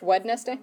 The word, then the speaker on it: Wednesday: Why does Wednesday have a D before the N? It's spelled like it's... Wednesday?